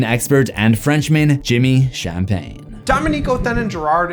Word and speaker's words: Dominique Othénin-Girard: Dominique Othénin-Girard is the correct pronunciation, and despite the fact that my last name is Champagne, I'm not actually from France.